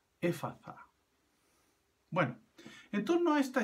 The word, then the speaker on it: Efata: Generalmente se pronuncia éfata en castellano, pero está escrito en griego con una T, pero es una T aspirada, es una TH, como en el inglés. Por eso debe pronunciarse así, éfata.